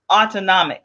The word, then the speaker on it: autonomic: uh and great great try so it's actually pronounced autonomic nervous autonomic oh yeah yes medical i didn't